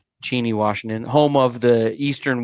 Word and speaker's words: Cheney: blue and green too it's pronounced oh well cheny Washington home of the